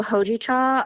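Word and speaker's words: hojicha: tea right can you tell me how to pronounce it yeah so hoi cha um it's a roasted green tea like you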